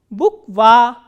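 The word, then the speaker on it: буква: So, again there are 2 vowels, u and a, and this a is stressed and u is unstressed. So, how will we pronounce this word? Bukva, bukva.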